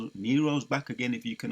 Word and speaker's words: Nero: And I was calling him Neo in my video yesterday. So I'll make a correction on that. It's Nero. Right? That's how you pronounce it, Nero.